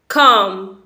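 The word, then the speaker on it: comb: brush toilet brush कंघी कंघी को इंग्लिश में बोलते हैं खाम बहुत से लोग इसे कॉम बोलते हैं तो आपने इसे कब नहीं बोलना है यहां पर 20 साइलेंट है यानी की बी को आप प्रणाम नहीं करेंगे तो आप इसे कैसे बोलेंगे कम कम इसे इंग्लिश में बोलेंगे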